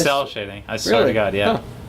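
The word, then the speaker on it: cel shading: cell cell shading yeah I thought it was shell no that's why I made fun of you earlier cuz I thought you said it wrong and I'm like it's cell shading I swear to God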